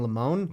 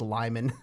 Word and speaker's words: Lyman: check going to lyman i was like you mean lamone like no it's lyman like okay i think